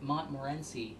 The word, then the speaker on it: Montmorency: I have half a cup of pitted, dried, tart, someone told me to pronounce it Montmorency cherries.